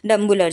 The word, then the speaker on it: Dambulla: বাস চলে ডাম্বুলার জন্যে আমি ডাম্বুলা বলছি ওখানকার শ্রীলঙ্কার লোকরা ওটাকে বলে ডাম্বুলে তো আমি যখনই বাসে মানে বাস ধরার জন্য যেম্বু ডাম্বুলা তো ওরা দেখছি কন্ডাক্টর গুলো ডাম্বুলে ডাম্বুলে বলছে তো প্রোনাউন্সিয়েশনটা একটুও ডাম্বুলা নয় তো যাই হোক তো